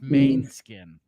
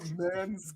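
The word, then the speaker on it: Måneskin: umot over the a because it's pronounced main skin oh like Main it's not man no wonder I could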